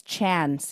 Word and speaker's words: Chan: yeah, Brandon's middle name is Chan, Chan. So Brandon Chan. Chan. Yeah. Oh wow. Yeah, one syllable. Yep, one syllable.